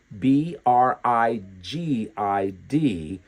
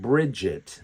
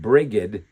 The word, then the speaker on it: Brigid: B R I G I D, but they also pronounce it Bridget.